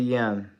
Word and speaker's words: Yan: Oh, so it's like yen, right? Like you don't. Okay, I get. So it's yen. Okay, I get it. I get it. So you pronounce it yen.